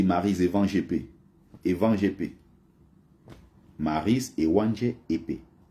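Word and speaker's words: Maryse Éwanjé-Épée: Mais les Français prononcent ça, et elle-même, hein, dans l'émission, elle n'arrivait jamais à rappeler aux gens que c'est pas comme ça son nom. On dit Maryse Evan GP.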